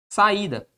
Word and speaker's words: saída: Como ele ocupa sozinho a posição de sílaba, eu vou lá e vou acentuá-lo. Tranquilo? Tranquilo. Outro exemplo. Saída.